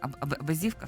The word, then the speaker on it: Абазівка: Я не помилилась в наголосі Абазівка. Все правильно.